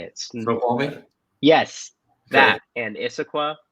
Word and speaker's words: Snoqualmie: The whole area of, and I'm going to butcher these names. I think it's like Snoqualmie. How do you say it? Snoqualmie?